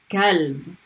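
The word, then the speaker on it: كلب: Same as number one, but it's a light K sound. Kalb.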